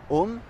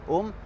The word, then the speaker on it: home: Le H, il est aspiré. Ça veut dire on ne dit pas home, Vous savez, ça s'écrit H-O-M-E, on ne dit pas home, on dit home.